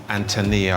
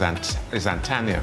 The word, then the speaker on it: Aunt Tanya: So every time we came around, mother said Antonia or Antenna, come here, and I kept saying, Mom, no, her name is Aunt Tanya.